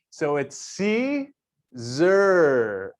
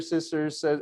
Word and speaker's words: Siser: You know, my very first lesson is how to properly pronounce Siser. S-I-S-E-R. So it's Siser. All right. Congratulations, everyone. That's lesson number 1. So go tell your friends. It's not Siser, sisters, all the other things.